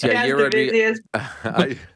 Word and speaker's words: Yair Rodriguez: Yair Rodriguez. It was almost as close as Chael Yair. Yeah. You know what? So it's Yair Rodriguez.